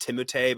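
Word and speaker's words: Timothée: Like his name is pronounced Timotei, but like won't let anyone pronounce it that way because it sounds dickish.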